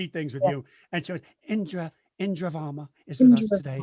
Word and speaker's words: Indira: I mean, it is the the rhythm is Indura. Okay. So, it's closer to Indra than Indira.